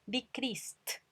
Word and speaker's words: decreased: Y a pesar de que escrito termina en E, cuando yo lo pronuncio el sonido final es S. Decrease, entonces es del grupo 1 y suena con T. Decreased, decreased.